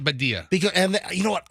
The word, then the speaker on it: Badia: but you know yeah is it body or badia I always pronounce it badia because and you know